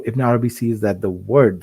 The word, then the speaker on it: Ibn Arabi: So his name also Ibn Arabi, pronounced without the alif lam, often referred to as Muhyiddin Ibn Arabi.